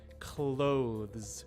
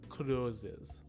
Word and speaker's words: clothes: worry about that just make sure that you're pronouncing clothes right instead of closes so here's our second